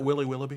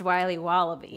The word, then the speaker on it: Wiley Wallaby: Can I have a piece of that Willy Willoughby? Wally Wibbly. Wiley's Wallabies. Wallaby Wallies. Wilby Wobbaby. It's pronounced Wiley Wallaby.